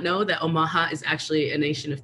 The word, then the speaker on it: Omaha: nebraska in omaha uh i heard that they call themselves omaha so we're putting the inflection in the wrong syllable when we talk about that nation um some of you